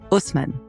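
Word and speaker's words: Haussmann: named George Eugene hman whose name I will pronounce the English way in French it's more like George Eugene Osman yeah I don't know how to say it that way anyway Housman was the prefect for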